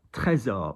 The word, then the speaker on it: Trésor: Trésor, which is a well-known fragrance. Très, très. And notice S is a Z, so trésor.